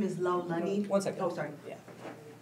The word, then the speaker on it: Laulani: My name is Lau Lani. One second. Oh, sorry. Yeah. Say your name and spell Laulani.